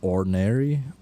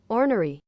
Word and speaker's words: ornery: It looks really boring and kind of ordinary or orary or I don't manh how do I pronounce this? Okay, Google. Um, let me pronunciation orary ornery ornery ornery.